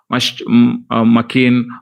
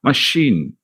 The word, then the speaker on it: machine: same ch machine sure we should not say mckean or machine like that machine machine please remember the